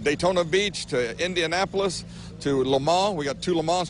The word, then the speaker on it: Le Mans: Now, see, I always pronounce it Le Mans, but it's Le Mans? Le Mans. Drop the S.